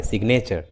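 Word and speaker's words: signature: लेकिन इसका एक एक्सेप्शन है, जैसे सिग्नेचर, इस इंग्लिश वर्ड में जी एन के पहले आया है लेकिन जी का उच्चारण हुआ है, सिग्नेचर।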